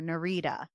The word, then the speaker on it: Nerida: In the audiobook, they call her Nerida.